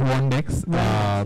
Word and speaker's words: WandX: And what about WandX? What is, so, are you pronouncing it right? Yeah, it's WandX.